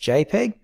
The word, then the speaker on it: JPG: what i'm going to choose is jpg it's pronounced jpeg since we've got some high quality photos in